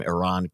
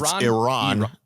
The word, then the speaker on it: Iran: already screwed up Jake okay Iran not Iran Iran is something you do I say Iran didn't